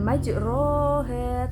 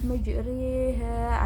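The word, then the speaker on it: مجريها: Bacaan imalah, bukan majroha tetapi majriha, antara alif ke kasrah.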